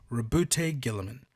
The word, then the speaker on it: Roboute Guilliman: ultramarines or their Primark I'm gonna say it right this one time rebute Gilman that's how it's genuinely pronounced and from this point